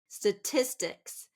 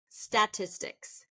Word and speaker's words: statistics: Statistics. Now, often I'll hear statistics. Statistics. First syllable stress. Statistics. We want it to be second syllable stress.